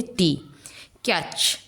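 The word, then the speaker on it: talk: वो है T, catch.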